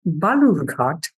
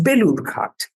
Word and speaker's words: Balurghat: In his speech at Balurghat constituency, he kept mispronouncing Balurghat as Belurghat.